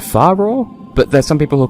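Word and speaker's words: Farore: pronounce and there's this one I've always said far bro but there's some people will call a furore which makes sense because Japanese and I'm sure they're well there are other pronunciations of people come up with but I'm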